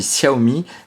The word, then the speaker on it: Xiaomi: long de cette vidéo en chinois on dit Xiaomi mais ça s'écrit Xiaomi avec un X donc on va faire